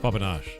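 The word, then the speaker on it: papanași: It's pronounced papanache. It looks like papa papan papanazi. Papanasi to us, but it's papanache.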